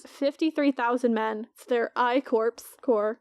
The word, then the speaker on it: corps: men their I corpse core it's not corpse it's spelled that way though it is so the